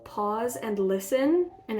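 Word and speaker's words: Paws: group um it's called pause and listen and it's spelled like p-a-w-s like pause of a wild cat because it's the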